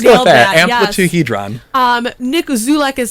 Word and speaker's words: Amplituhedron: It's going to be the track Amplituhedron? Amplituhedron? Amplituhedron. I think let's you've go with nailed that. Yes. Amplituhedron. Nick Zulek is spelled Zoulek.